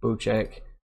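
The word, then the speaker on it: Bocek: Bowcheck is a new weapon, and it is pronounced Bowcheck.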